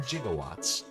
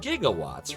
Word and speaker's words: gigawatts: like wait a minute why is he saying jigawatts it would be gigawatts right jigawatts uh okay so